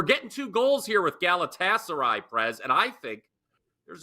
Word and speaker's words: Galatasaray: League this game goes on Wednesday can I pronounce this Gater against Byron Munich that's gaser Galatasaray is how you say it and I'll tell